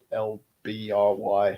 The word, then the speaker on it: LBRY: that can't delete them from the lbry and i just pronounced library chain so you can